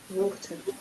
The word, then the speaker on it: water: Water. Water. வாட்டர் Water. வாட்டர். But Americans படிக்கிறது தான் இதுல வித்தியாசமா இருக்கு. இதை பாருங்க. Water. Water. Water. அந்த டீயை வந்து பாருங்க உச்சரிக்கல பாத்தீங்களா? வாட்டர் ரொம்ப ஸ்மூத்தா போகுது பாத்தீங்களா?